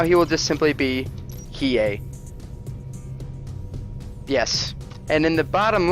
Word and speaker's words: Hiei: It is Hiei, and I had to ask about 30 times how to pronounce that, but I believe I have it down with Hiei. Perhaps more emphasis on the H for more of a hey, but that remains to be determined. For now, he will just simply be Hiei.